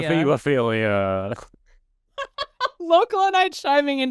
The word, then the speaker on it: hebophilia: Look, it's ebophilia. It's technically a hebophilia.